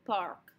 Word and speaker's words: parc: It's pronounced pretty much the same. Park, park. But we spell it a little bit differently. We don't like K's at the ends of the word in French, so we're going to spell it with a C instead. But it still gets pronounced.